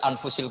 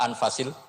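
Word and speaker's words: أنفس: saja di sini ditulis anfusil kutubalu saya baca anfasil kutub karena maknanya kitab ter baik Kalau kitab terbaik bacanya bukan anfus tapi apa anfas ya nanti kamu debat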